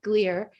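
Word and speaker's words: Glier: performer his name is seth gleer rhymes with beer and he's worked with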